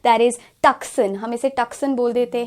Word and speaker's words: Tucson: So यहाँ पर it's not going to be Tuscan, but it's going to be Tucson. That's the correct pronunciation.